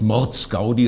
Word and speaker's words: Mordsgaudi: ist das programm heißt mordsgaudi also mit betonung auf mord um missverständnissen vorzubeugen gibt